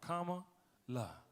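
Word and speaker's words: Kamala: beautiful young ladies that taught people how to say their auntie's name. They were like, comma, la, comma, la.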